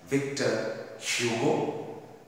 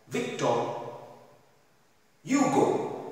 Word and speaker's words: Victor Hugo: it is pronounced as victor hugo in french it is pronounced as victor hugo the h is silent so let us have